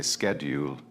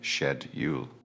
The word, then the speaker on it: schedule: In American English, they say schedule, but in British English, we say schedule.